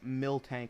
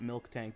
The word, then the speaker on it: Miltank: Yeah, no, it's pronounced Miltank, not Milk Tank, but I say Milk Tank because it's funny.